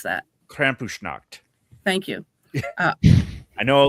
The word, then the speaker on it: Krampusnacht: I don't even know how to pronounce that. Krampusnacht.